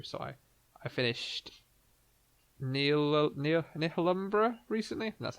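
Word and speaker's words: Nihilumbra: So I I finished Neil Neil Numbra recently. That's how you pronounce it. It's like Annihilation and Umbra put together.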